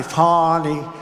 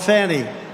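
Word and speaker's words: Fani: But many, many people, their lives have been destroyed because of Fonnie, F-A-N-I, Fonnie. You have to pronounce it Fonnie. It's called Fanny. You have to pronounce Fonnie.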